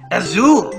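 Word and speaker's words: azul: as your means blue you say it to a zoo very good Oh bien what color is this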